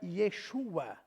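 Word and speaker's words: ישוע: eh Jesus Jesus e Jesus é uma pronúncia grega porque a pronúncia o hebraico é Yeshua out glória a Deus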